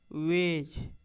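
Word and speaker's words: wedge: वेज।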